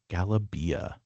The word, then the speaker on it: galabia: This is Egyptian because in the G is hard in Egyptian Arabic.